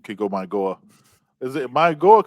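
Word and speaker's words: Mauigoa: Because I'm hearing it now pronounced like with an N. But is it Maigoa or Mainoa? So one of them spoke and they said it's supposed to be Mawingoa, but they don't mind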